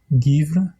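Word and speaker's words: geimhreadh: Par exemple, dans le mot givre, givre, qui signifie hiver, je prononce avec le son du G.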